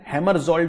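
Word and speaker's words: Hammarskjöld: डैग हैमरजोल्ड medal. मैं spelling बता देता हूं, DAG डैग।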